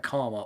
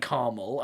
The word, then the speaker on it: karma: I did notice after you pointed out that they talk about karma all the damn time. Yeah. So yeah, they still say it like Carmel. I'm like, how is there an ul in karma?